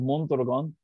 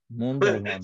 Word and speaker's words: Mondragon: It's called Mondragon. And yeah, I've heard Dick Wolf talk about it. So yeah, Mondragon. I try to have a Spanish accent. Say it one more time. Mondragon.